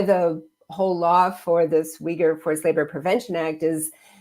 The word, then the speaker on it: Uyghur: I think the challenge with and why the whole law for this Uyghur Forced Labor Prevention Act is that it's more difficult to talk to the Chinese government about this abuse that's occurring.